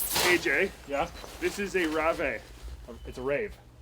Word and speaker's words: Rave: This is a Rave. It's a rave. It's a Rave. It's a rave. The guys in What is Finland Rave? said that it's actually called a Rave, and that's how you pronounce it.